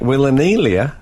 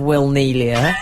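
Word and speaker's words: Wilnelia: Interesting pronunciation of Will Neelia. Oh, is it? Will Anelia. He said it as if it was two people, Will and Nelia.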